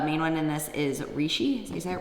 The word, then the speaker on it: reishi: The main one in this is reishi. Is that how you say it? Reishi?